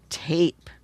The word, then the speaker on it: tape: Now, this is almost tap except that long e changes this a to a a sound instead of a a. What word is it? Tape.